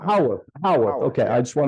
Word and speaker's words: Howarth: It's Howarth, right? Oh, Howarth is how we like to pronounce it. Howarth.